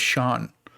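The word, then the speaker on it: Siân: by sean header which the only reason i know how to say this name is because of taskmaster believe it or not s-i-a-n her name is sean so that's right uh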